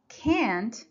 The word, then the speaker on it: can't: on the other hand can't in its negative form is always stress so here you should say I can't sing remember if you confuse